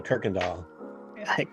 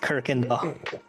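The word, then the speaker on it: Kuykendahl: amazing that's amazing don't even start me on Kirk and doll yes Kirk and doll that's a German thing for you listeners the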